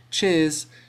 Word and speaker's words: cheers: in a word now Americans tend to emphasize this sound whereas in British Eng